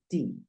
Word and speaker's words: the: que está el artículo que lo puedes pronunciar da o d pero en este caso Mira la primera palabra que sigue es una vocal por lo Si eso sucede tú debes pronunciar the the the Orange de resto si puedes decir de de Cat O puedes decir da como te lo mencioné anteriormente listo en este